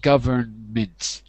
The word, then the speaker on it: government: just one quick point we swallow that syllable so we would say government we would swallow the n in English government government is how weak and